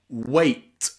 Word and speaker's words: weight: Okay, the 7th way that we can pronounce the letter E in English is as the diphthong sound A. A. A. You'll often find this sound in words where E and I are together again, like weight and freight.